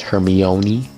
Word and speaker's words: Hermione: It's actually pronounced Hermione. Hermione.